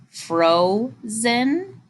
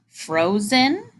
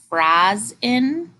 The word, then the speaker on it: frozen: look at our two examples how would we pronounce that first one where we divide right after the O did you say Frozen Frozen how about the second second example what would